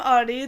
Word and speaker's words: Audie: I'm Audie, the O is silent, bitch.